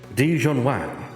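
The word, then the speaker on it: Di-Jun Wang: I hope I'm pronounced this correctly. Dijon Wang.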